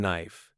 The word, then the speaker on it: knife: we don't pronounce exactly the K in knife the p in Psychology the the seas in Island all silent it's no wonder Learners